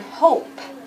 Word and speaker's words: hope: And on the other side, I want you to write the word hope. Very good. And there's a silent E at the end of hope, because the O says O.